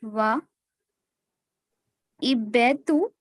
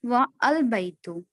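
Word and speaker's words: وَالْبَيْتُ: a is dropped and the phrase is pronounced wa ibetu, not wa al-baitu.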